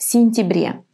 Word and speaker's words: сентябре: And when the ya is unstressed and it's in the middle of the word, it's going to be pronounced just as an I. В сентябре.